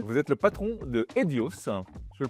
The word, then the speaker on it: Hedios: Vous êtes le patron de Edios, je le prononce bien.